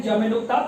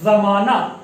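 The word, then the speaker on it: ज़माना: परंतु नुक्ता लग जाए यदि, यहाँ पर आप देख रहे हैं जमे नुक्ता, ये क्या हो जाएगा? जमाना, जमाना, इसका मतलब होगा युग, काल या समय।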